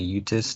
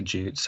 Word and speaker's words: Jutes: Because if you look at it, the Anglo-Saxons were the Utes, the Angles, and the Saxons. And the Angles and the Utes, or sometimes people say Jutes, or however you want to pronounce it, but that's from present-day Denmark, which are Scandinavians.